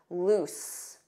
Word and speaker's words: loose: lose which has one o and a different pronunciation because notice that z z lose lose repeat after me lose but not tight loose with an S loose repeat after me loose